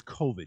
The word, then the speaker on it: COVID: gonna get this stupid covered vaccine anyway peter it's covid you should know how to say it it's been well over